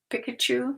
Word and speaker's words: Pikachu: Pikachu, is that how you pronounce it?